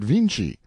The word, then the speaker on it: Vinci: own tongue he says they spell the name of their great painter viny but pronounce it Vinci and then adds with